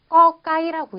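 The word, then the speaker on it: ก ไก่: 그리고 태국어는요. 이 글자를요. 꺼까이라고 읽는데요.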